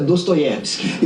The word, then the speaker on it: Dostoiévski: desta e diz que na sua pronúncia é para nós leitores comuns é dostoiévski eu to pronunciando filme